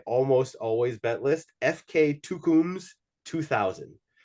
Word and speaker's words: Tukums: always bet list FK tukums two thousand it's that's just my pronunciation is probably terrible but it's t-u-k-u-m-s f-k kind of like FC two comes 2000.